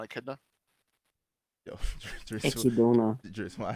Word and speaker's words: Echidna: It's apparently it's pronounced like the animal. You know what animal I'm talking about? The echidna apparently. Echidna. Yeah, Echidna.